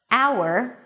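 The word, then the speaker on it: hour: Just memorize those words that don't begin with an H, although there is an H in the spelling, and you'll be fine. So again, honor, honest, our air, herbs.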